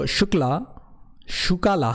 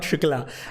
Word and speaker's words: Shukala: So Shukala, sorry, it's not Shukla, I've been pronouncing that name wrongly.